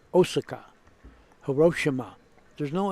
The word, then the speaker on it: Osaka: Murray Gucci you're right all Japanese words end in a vowel and they do not have an accent and any syllable you know when you hear that city people in America they call it Osaka Japanese say Osaka Hiroshi Shima there's no